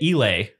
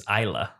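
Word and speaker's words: Islay: bounds of the Discord but um we've been pronouncing it elay Scotch whiskey and uh and the correct pronunciation turns out is ISA I think you got that backwards because I've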